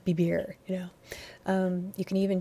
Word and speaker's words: vivir: But if you had it as English, it would say vivir instead of bibir.